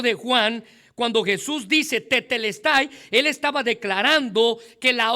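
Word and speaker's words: τετέλεσται: En el griego, Juan usa una expresión ah que pudiéramos pronunciar en nuestro idioma como tetelestay.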